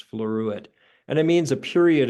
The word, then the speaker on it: floruit: And it's spelled exactly the way it sounds, floruit.